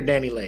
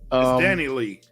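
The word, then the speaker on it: Dani Leigh: Is it Dani Lee or Dani Lay? How does she pronounce it? I don't know. It's Dani Lee. Dani Lee? Okay, Dani Lee.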